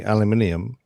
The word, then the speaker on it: aluminium: he hid initially decided it was gonna be aluminium because he said that all the idioms there